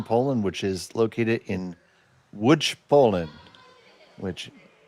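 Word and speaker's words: Łódź: which is located in Wood Poland which if you look at the spelling it says L O DZ it is pronounced wood.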